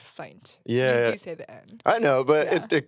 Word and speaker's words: Feindt: just throwing that out my last name is pronounced fight yeah I know but